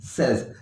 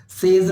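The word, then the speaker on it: says: अगर यहां तुम होते तो एंड यू से, यहां वह आ गया, ही सेज। सेज नहीं होता है, ये सेज। ठीक है, प्रोनाउंसिएशन बहुत जरूरी है।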